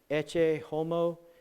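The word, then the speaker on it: Ecce homo: is a picture called I'm not good at Latin but I think it's pronounced e homo it means behold the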